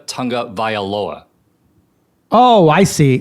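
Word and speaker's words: Tagovailoa: for the 27th time you failed to pronounce tua's last name correctly you said tago Viola uh because that's his name bro yeah this his name bro no it's not tago Viola it's Tua Tonga vioa oh I see like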